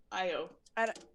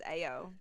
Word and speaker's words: Io: What a fun name, Io. I-O. Yeah. No. It's Ayo from A- here.